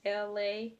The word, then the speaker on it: Elay: This is LA, pronounced like LA, like the city.